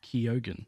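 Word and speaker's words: Keoghan: look that how to say his last name Keogan is it kyogen yeah and Lauren ridloff played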